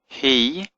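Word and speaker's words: הִיא: He, Isha, Hachama. Now the word he means she. Okay, hey, cherik yod aleph means she. But it's pronounced he, so it's confusing, but it means she in Hebrew.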